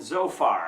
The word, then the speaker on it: Zophar: Okay, the friends, Eliphaz, Bildad, and Zophar. At least that's the way I pronounce them.